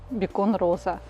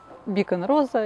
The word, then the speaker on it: Beacon: Привычнее, опять же, нам произносить бекон, но по правилам английского языка бекон в переводе с английского маяк через и с ударением на первый слог к гастрономическим изделиям никакого отношения бекон, в отличие от бекона, не имеет.